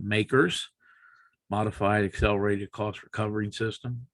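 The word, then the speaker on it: MACRS: using a system called makers modified accelerated cost recovery system it's pronounced makers and it's not acceptable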